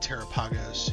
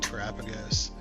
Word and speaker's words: Terapagos: I know everybody pronounces it differently, right? You got Terapagos, you got Terapagos.